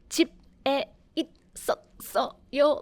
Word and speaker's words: 집에 있었어요: So when a Korean verb is followed after a placeholder ing, you need to transfer the ending sound to the next ing. So it's not like 집에 있었어요, like splitting all the syllables. We don't pronounce like that, but rather we smoothly goes over with the sounds.